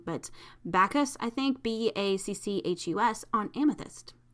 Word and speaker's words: Bacchus: series on green jasper and um i'm gonna pronounce this wrong but bacchus i think b-a-c-c-h-u-s on amethyst i love that